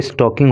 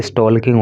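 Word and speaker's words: stalking: The molester had been constantly स्टॉकिंग, यहाँ पे L silent होता है, स्टॉल्क नहीं इसको पढ़ते हैं, स्टॉक पढ़ते हैं, आईएनजी लग गया तो स्टॉकिंग हो गया, ना कि स्टॉल्किंग हो गया।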